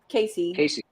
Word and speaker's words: Case Easy: own brand of cases called case easy pronounced casey yeah a shurion a